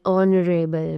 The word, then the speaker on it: honorable: Now, some words begin with a silent H, such as an R, an honorable man, an honest person, an honor, right?